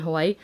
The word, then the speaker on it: Hawaii: That Hawaii, if you want to say it correctly. My brother works on Hawaii, so he explains how if you're saying it properly, apparently it's Hawaii with a V.